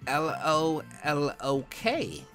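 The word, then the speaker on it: Lolok: L-O-L-O-K. Rare heart locket. You pronounced my name wrong in the last vid. It is said like Lolo K.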